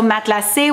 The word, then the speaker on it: matelassé: number two, it's also matelassé, which I feel like a lot of people, because I'm pronouncing it the French way, are gonna be like, matla what?